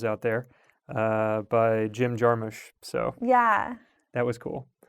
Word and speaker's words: Jarmusch: fun to hear um also i think he pronounces it jim jarmisch yeah well i specifically just said jarmusch because